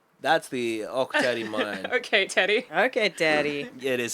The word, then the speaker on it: Ok Tedi: Okay, Teddy. Okay, Daddy. It is spelled OK Teddy.